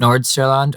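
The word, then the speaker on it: Nordsjælland: and danish listen listeners how do you pronounce it nor Norland yeah that's how it's usually said in England Norland okay uh there in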